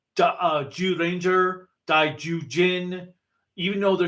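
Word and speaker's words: Zyuranger: J sound just like J Ranger dauin even though they're spelled with Z's it's just the way they pronounce the Z's in Japanese absolutely no that makes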